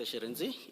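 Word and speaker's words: Shirintzi: Sharenzi.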